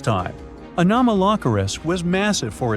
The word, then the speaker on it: Anomalocaris: The name is a bit tricky to pronounce, so I'm not going to. Okay, it's Anomalocaris.